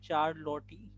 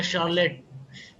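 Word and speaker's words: Charlotte: अच्छा एक और बंदा है जिसका नाम है चार्लोटी, क्या पता नहीं कैसा नाम है, प्रोनाउंस कर दिएगा, तो चार्लोटी, ये तीसरा बंदा है। सर शार्लेट, I think Sorry, शार्लेट है।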